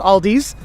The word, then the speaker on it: Aldi: Aldi is just Aldi there is no s at the end it's not Aldi it's Aldi okay so just know that